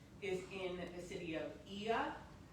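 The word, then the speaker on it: Oia: And so the like this famous view of the whitewash buildings with the blue roofs is in the city of Iaum. O I A, but it's pronounced IA.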